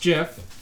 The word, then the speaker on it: GIF: created it says Jeff he says it's it's pronounced jiff whatever so if you're gonna pull heap of